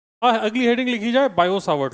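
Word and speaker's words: Biot–Savart: और अगली हेडिंग लिखी जाए बायोसावर्ट लॉ। अगली हेडिंग लिखी जाए बायो सावर्ट लॉ फ्रेंच नाम है क्या पढ़ेंगे आप लोग अपने हिसाब से देख लेना बायो ही साइलेंट रहेगा ऐसा क्या वो बेटा इंग्लिश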